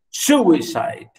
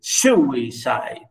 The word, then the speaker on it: suicide: Dactyl, stress syllable followed by two unstressed syllables, like for example, here we say suicide. Notice, suicide. Stress at the beginning, suicide, isn't it? Suicide. Suicide. Stress first.